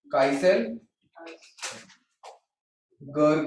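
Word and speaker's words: Kieselguhr: ठीक है, काइसेल गर करके प्रोनाउंस करते हैं।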